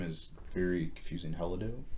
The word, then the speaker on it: Helado: Helado. Helado.